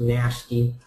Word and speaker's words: NHST: he called it um nhst apparently intended to be pronounced nasty um and so uh